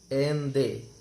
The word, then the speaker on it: Allende: These are some extract from the last speech of Salvador Allende, pronounced en they.